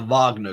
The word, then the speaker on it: Wagner: military to some group called The Wagner group it's spelled Wagner but they call it the Wagner group and is led by another Russian billionaire